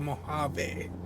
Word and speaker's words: Mojave: So, Desert Lake, Moliv, it's actually the Mojave. Said that wrong. So, you're going to be passing through the Mojave Desert to Bakersfield and Mojave itself.